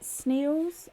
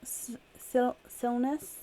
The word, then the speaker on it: Silness: Up next then is Anne Britt, is it Sneals? Silness? I'm so sorry, Anne. I don't think I'm pronouncing your name correctly. Are you here? No, you're very, very welcome. Last one was right.